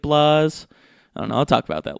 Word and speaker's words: BlazBlue: a little bit more there's no e at the end of blaze so it kind of seems like Blas and I'll talk about